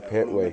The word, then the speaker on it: Pettway: Pettway, right? Yes, sir. Pettway.